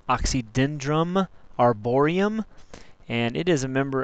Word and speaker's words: Oxydendrum arboreum: sourwood scientific name is pronounced oxydendrum arborium and it is a member of the arier